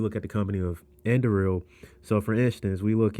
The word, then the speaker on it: Anduril: And then if we look at the company, I don't want to pronounce it. I think it's Anduril. Let me pull it up real quick. Yeah, Anduril.